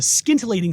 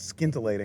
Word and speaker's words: scintillating: weber off to a scintillating start this season with 12 home runs i think that's scintillating not skin delayed you're right the c is silent thanks chad still working